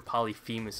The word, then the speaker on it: Polyphemus: you out with poly polyphemus or polyphemus as people uh pronounce it and uh also with